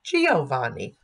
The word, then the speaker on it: Giovanni: Giovanni as Giovanni but that I has softened the G from guhh thuja so